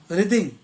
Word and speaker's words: writhing: अब है word रिदिंग, WRITHING। मेरे हिसाब से रिदिंग होगा और इस पर W साइलेंट होगा।